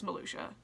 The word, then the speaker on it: Malucia: a malucia dollar melusia i've been pronouncing it malucia since she came out but it's melusia since i watched the